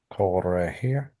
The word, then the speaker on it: corregir: How do you pronounce that word again? Corregir. Corregir.